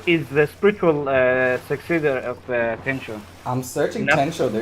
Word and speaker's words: Tenchu: Tenchu, man. Why are you saying Tencho?